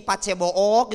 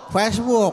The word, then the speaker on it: Facebook: Kalau konten di media sosial, Bu di Pace Book gitu ya, Ibu main Pace Bookok. Facebook.